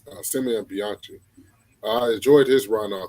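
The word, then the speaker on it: Simone Bianchi: That's how you pronounce his name, Simeon Bianchi.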